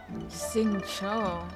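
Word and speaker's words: Xingqiu: Sing Cho. Oh gosh, I've been pronouncing it wrong in my head this whole time.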